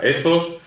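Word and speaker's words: ethos: retórica ezos bueno se escribe estos pero se pronuncia esos pazos se escribe patos que se producía pazos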